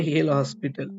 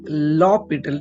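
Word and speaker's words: L'Hôpital: একটা ল বলি, লপিটাল, অনেকে ভালোভাবে এর প্রোনাউন্সিয়েশন পারে না বলে একে বলে হেল হসপিটাল, ঠিক আছে, অ্যাকচুয়ালি লপিটাল, ঠিক আছে, একসঙ্গে পড়বে, ঠিক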